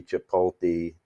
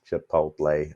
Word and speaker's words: Chipotle: Dollar General Lennar Nike Chipolte Chipotle my son says I say it wrong and I know I